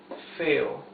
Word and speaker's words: feo: Lo más feo, the most ugly of all, or the ugliest of all, okay? Lo más feo. Feo, two syllables.